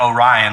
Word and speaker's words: Oh, Rhien: time but you know we pronounce it like orion like orion's belt you know right um